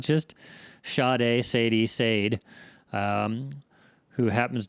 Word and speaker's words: Sade: Her name is I'm I'm assuming it's Shade because it's spelled like the singer Shade. I think it's Sadi.